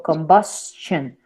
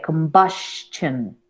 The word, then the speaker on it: combustion: Porque esta S me hace explotar un poco la frase. Y entonces, si yo dijera shun, sería combustion. ¿Ves? Hasta cambia la pronunciación de la U. Entonces, por eso, digamos que esa es una excepción. Sería combustion. Casi, casi diría una T. Casi.